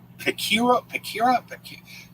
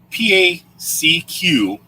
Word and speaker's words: Pacquiao: It's Pacquiao. There's no R in it. Pacquiao.